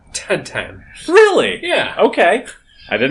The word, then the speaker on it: Tintin: me and also uh it is in in France Belgium whatever yeah uh pronounced tan really yeah okay I